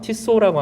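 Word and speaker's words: Tissot: 이름이 프랑스 발음일 것 같으니까 티소라고 하는 사람이 있는데, 오늘 주보에도 그림을 그린 사람이 그분입니다.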